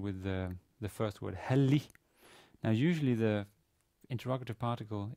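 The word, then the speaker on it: هل: kessler in connection with the the first word heli now usually the interrogative particle is hel not e not heli so what does the e do there well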